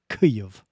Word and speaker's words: Kyiv: I heard Alex Thompson once pronouncing this word Kyiv, and I just thought it was pretty good.